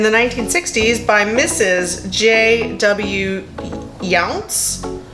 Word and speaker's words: Younce: Younce. Younce, like young. It's spelled Y-O-U-N-C-E. I don't know how you pronounce that. I'm gonna go with Younce.